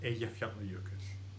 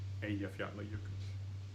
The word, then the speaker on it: Eyjafjallajökull: Or of course the famous volcano that erupted 6-7 years ago, Eyjafjallajökull. It's just a 6-syllable word, just like paleontology. Eyjafjallajökull.